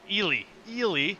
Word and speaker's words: Ely: is it Ellie? I think I mispronounced it last week. Ely.